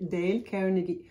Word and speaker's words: Dale Carnegie: Prononciation française, je vais prononcer en anglais Dale Carnegie.